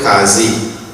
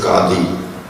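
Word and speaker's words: qadi: be headed by then in trinidad they call it kazi the correct pronunciation is kadhi and uh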